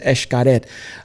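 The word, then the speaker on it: Xcaret: so if you've never been to eschkaret um in mexico um i'm telling you for those like how do you spell that it's spelled x c a r e t if you want to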